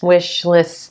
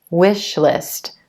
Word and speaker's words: wish list: tricky for you and you may tend to pronounce it more like an e as in green so it sounds like we Sh least we SH least instead of wish list wish list and as